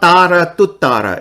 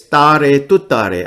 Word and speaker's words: Tare Tuttare: But when you string them all together, it's not Tara Tuttara. It's Tare Tuttare.